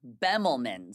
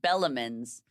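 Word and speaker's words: Bemelmans: a show um at I always say it wrong, Bemlman's because I was calling it Bellamman's.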